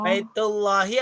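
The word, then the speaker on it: بيت الله: Oh, Baitullahi atau baitun Allahi? baitun Allahi, tapi baitullahi bacanya.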